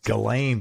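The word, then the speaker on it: Ghislaine: Elaine Maxwell I never it's galane but it's GH I I never know how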